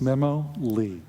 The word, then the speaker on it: Memoly: My name is Memley, and it's spelled M-E-M-O-L-Y, pronounced Memo-Lee.